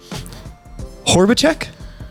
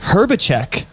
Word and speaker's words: Horbaczek: Horbaczek? Close. Horbaczek. Horbaczek. Okay, so the O is like an E.